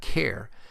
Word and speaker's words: char: the type of char you may hear people pronounce it as type care since it is short for character but I've always pronounced it as a type of char and the last primitive